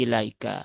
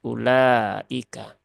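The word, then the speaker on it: أولئك: ya wau rosem Nah agar orang-orang yang EE bukan dari bangsa Arab ya tidak keliru membacanya menjadi ilaika jadi tetap terbaca ulaika ini sudah kita bahas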